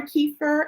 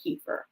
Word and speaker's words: kefir: They actually have water kefir and they have milk kefir. Kefir or kefir, either or. There's both ways of you might hear someone pronounce it.